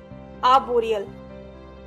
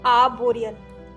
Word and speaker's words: arboreal: Next adjective is आर्बोरियल, ARBOREAL, आर्बोरियल। इस word में भी आर जो पहला वाला है वो साइलेंट है, तो उसे हमें नहीं बोलना है।